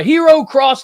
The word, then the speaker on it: Hero Cross: power to you uh hero cross transformers generations 2022 details and previews inside yes the x in japanese is kurosu so it's pronounced hero cross transformers uh generations and